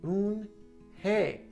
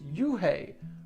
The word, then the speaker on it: Unhei: It's pronounced Unhei. "Oh, it's Yuhei," the boy said.